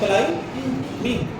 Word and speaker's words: climbing: हम कलाई मींग नहीं पढ़ते हैं, हम क्या पढ़ते हैं, कलाई मींग, कलाई मींग, कलाई मींग। लेकिन किसी ने कहा न्यू स्पेलिंग लिख दिया CLIMING, तो ये स्पेलिंग गलत होंगे, स्पेलिंग दुरुस्त यही होंगे, लेकिन पढ़ेंगे नहीं।